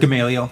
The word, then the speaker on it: Gamaliel: Gamaliel, yep.